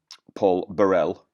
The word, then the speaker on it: Burrell: where I've said um Paul Burrell I hope I'm pronouncing that correctly thank you for somebody who pointing out that the Scottish one not the French one but you know